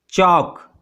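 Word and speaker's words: chalk: Next, चॉक, इसमें L silent है, सो यू can write टॉक एंड वॉक।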